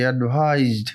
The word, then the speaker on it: advised: অ্যাডভাইসড, আমি কি বলেছি? অ্যাডভাইসড। এখানে দেখো এক কথাতে আরেক কথাতে আমরা চলে আসি, এটা কাজেও লাগবে তোমাদের। অ্যাডভাইসড উচ্চারণটা কিসের মধ্যে হলো? জ সাউন্ড।